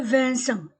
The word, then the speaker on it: Vincent: Monsieur Vincent, IN se prononce un. Ce ENT, en.